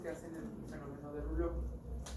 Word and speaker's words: rouleau: Ajá, o rouleaux, pero se pronuncia rouleau.